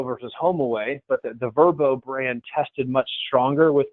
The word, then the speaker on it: Vrbo: with that but the verbo brand decision the decision to pronounce that verbo beast versus the acronym of VRBO which i think many